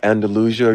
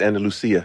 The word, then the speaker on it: Andalusia: Andalusia. You from Spain? It's Andalusia.